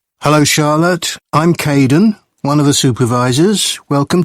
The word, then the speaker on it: Kaden: hello Charlotte I'm Kaden one of the supervisors welcome to the team hi Aiden uh it's Kaden I'm so sorry oh